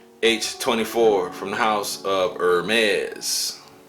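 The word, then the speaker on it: Hermès: the house of Hermes is pronounced Hermes guys Mossy aromatic Woody spicy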